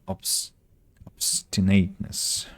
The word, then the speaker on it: obstinateness: Uh, the words elude me, but I will defy their obstinateness. How to read this one? Oops. Obstinate obstinatess obstinatitness so the first syllable is stress is stressed obstinateness I see um so